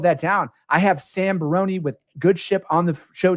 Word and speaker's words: Barone: A lot of people say the proper pronunciation is Barone. However, my grandpa is straight from Italy, and that's how he pronounces it. So it's Barone.